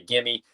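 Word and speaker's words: Gemmy: Now, what is your take on like there's two ways you pronounce it. Some people say Jimmy, some people say Gimme.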